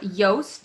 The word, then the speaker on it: Yoast: in sure so um yoast it is a plugin that is spelled like toast but with a y um at the front instead of a t and it's a plug-in